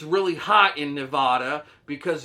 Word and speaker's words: Nevada: i'm allowed to say nevada but the correct way to say nevada is nevada you see the difference nevada gets you punched in the face nevada gets you invited over for dinner now the capital of